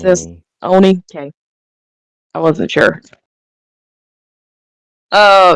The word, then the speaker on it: Oni: So when the Ani is summoned, Oni, how am I pronouncing Oni. this? How am I supposed to pronounce this? Oni?